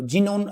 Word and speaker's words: Xenon: तो जीनोन है, तो मोस्टली जो हैं बच्चों जो ज़्यादा ध्यान नहीं करते, ठीक है, वो जेड से या जे से शुरू करेंगे इसकी स्पेलिंग, लेकिन इसकी XENON है।